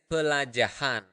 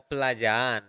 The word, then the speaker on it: pelajahan: And lesson is pelajahan. Pelajahan. Okay? Repeat after me. Pelajahan. You can either pronounce it as pelajahan or pelajaan. So you just prolong the A, pelajaan, not really pronouncing the H.